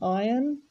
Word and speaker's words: iron: And you can see there, the word ironing also has a silent letter. It's a silent R. This object here is an iron.